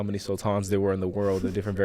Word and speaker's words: Sultan: I know a lot of sultans. Oh, but we pronounce it a little differently. It's Sultan.